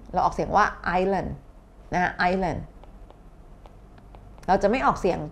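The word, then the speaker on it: Ireland: เหมือน กัน เนาะ นะ ก็ คือ iOS ประเทศ ไอร์แลนด์ นะ ออก เสียง ออยเออร์เนี่ย เนาะ เพราะ ฉะนั้น น้อง ๆ ระวัง การ ออก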